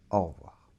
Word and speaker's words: au revoir: le son au alors la lettre v se prononce on a au début la bouche comme ça les dents qui touche la lèvre inférieure aux quais un peu